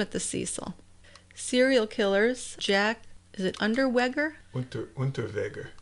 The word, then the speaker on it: Unterweger: Serial killers, Unterweger. There, that sounds better. If we want to pronounce it in the German way.